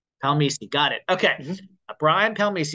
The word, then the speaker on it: Palmese: okay what what is that what's the correct pronunciation before we get going uh palmi palmi got it okay Brian palmi everyone so Brian